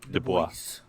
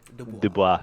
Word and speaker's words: Dubois: Dubois. Okay. The S is silent when you say it. It's why. Dubois.